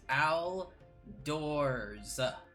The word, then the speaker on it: Aldor: any comments other than learn how to pronounce the simplest name that I give you it is so easy it is Al doors Al and a doors did you say Alo defense